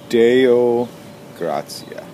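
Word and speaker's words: Deo gratias: the morning meditation for Monday June 11th yeah Deo graia finally figured out the right way to say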